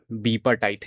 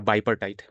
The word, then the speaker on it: bipartite: Okay, तो जैसे हम लोगों ने कल क्या किया था, ये बीपर्टाइट या बाइपर्टाइट, बाइपर्टाइट बोलना ज़्यादा बेटर है क्योंकि बाई पार्ट में करता है हम लोग का, है ना। तो बाइपर्टाइट प्रोनाउंसिएशन ज़्यादा करेक्ट है।